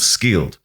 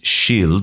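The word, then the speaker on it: Scyld: his son was called skiled now those words that's not how they should be pronounced in Old English I believe they should be pronounced shafa and Shield or shield and those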